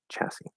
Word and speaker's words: chassis: yeah then a chassis chassis of course notice that s at the end is silent usually s's aren't silent